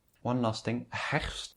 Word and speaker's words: herfst: One last thing, herfst is one of those words that have so many consonants, herfst, and that's a little bit difficult to pronounce.